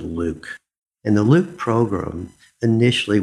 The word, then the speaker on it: LIWC: inquiry and word count liwc and we pronounce it Luke in the loop program